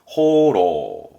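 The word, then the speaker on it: 放浪: 발음은 호로.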